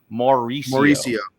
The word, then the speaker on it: Mauricio: Let me get the right pronunciation. Mauricio.